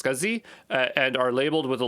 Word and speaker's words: SCSI: as an scsi drive i think that's pronounced scuzzy and are labeled with